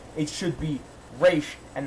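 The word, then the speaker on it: Ra's: little thing but still you should pronounce the name right it's race that's it so i'm going to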